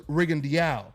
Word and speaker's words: Rigondeaux: They'll try to tell you is Rigondeaux, but I talked to Guillermo himself. Okay. And he told me he prefers Rigondeaux. Rigondeaux? So I don't, and so it was how you just said it right now.